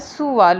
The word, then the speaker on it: سوال: عجیب سوال پیدا ہوا۔ سین کے اوپر پیش ڈالیے بیٹا، سوال ہوتا ہے صحیح درست تلفظ اس کا۔ عجیب یعنی انوکھا، یہی